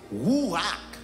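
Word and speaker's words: רוּחַ: il v dire sauf ou bien vend il prononcé comme noma mais en hébreu en hébreu il dit c'est rouac rouac qui voulait dire vent il écrit écrit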